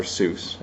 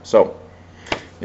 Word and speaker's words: Seuss: pendulette is the one that says it's Dr soy that's how it's properly pronounced um I'm not one